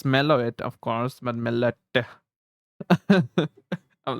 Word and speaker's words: Meloetta: Also, you pronounce the A at the end of a name, Meloetta. I think like that's like Italian sounding, right? Melot. It's Meloet, of course, but Meloetta.